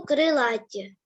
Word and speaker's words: крилаті: крилаті перевірне слово крила якщо крилаті то наголос на крилаті наголос на а крила наголос на и